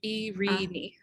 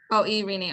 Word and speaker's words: Irini: It's a long E in every syllable. So Irini. Irini.